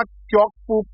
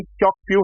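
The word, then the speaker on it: Kyaukphyu: भी चाइना एक अपना क्योकपू पोर्ट बना रहा है। उसका नाम प्रोनाउंसिएशन क्योकप्यू है।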